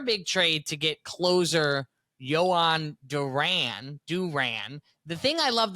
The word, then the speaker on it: Jhoan: The thing I love the most, Dad, is, first of all, everybody, including me, pronounces it a different way. Right. But now, everybody in Philly calls him Jhoan. Are you familiar with Jawn?